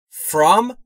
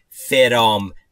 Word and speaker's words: From: From با این تلفظ و نه تلفظ اشتباه فرام، به این دلیل که بعد از F صدایی وجود نداره، پس میشه From Monday